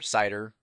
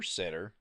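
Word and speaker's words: CIDR: called classless interdommain routing or cider or sitter or cedar or however you want to pronounce it.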